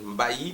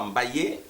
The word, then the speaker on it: Mbayi: On trouve les Mbaï au Sénégal, Mbaï, prononcé des fois Mbaïé, et puis comme l'occidental essaye d'écrire ce qu'il entend, bon voilà, il y a aussi ce nom-là, mais chez nous, au Congo, en RDC, c'est Mbaï, Mbayo, Mbaya, et moi